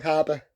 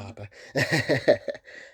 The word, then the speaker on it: Harbour: Keep saying his name wrong. Harbour, not Harper.